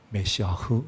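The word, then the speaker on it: משיח: 우리는 그냥 메시아흐라고 안 하고 우리는 그저 음역 그대로 해서 메시아라고 하지만 원래 히브리 말로는 메시아흐 이렇게 발음합니다. 이 말의 음역을 우리는 메시아,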